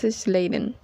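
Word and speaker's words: Schleiden: y Teodoro es Chan no puedo decir el apellido de Matías se pronuncia Matías sladen trabajaron juntos al principio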